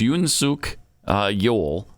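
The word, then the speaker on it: Yoon Suk-yeol: him something completely different yesterday okay so it's Yoon Sook uh Yule looks like feel anyway here's what he had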